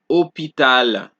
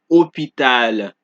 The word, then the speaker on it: hôpital: So, the H in French is silent. Therefore, H is never pronounced during the articulation of a word. Example, homme, histoire, hôpital, habitude. Do you guys see that I do not pronounce the H at all?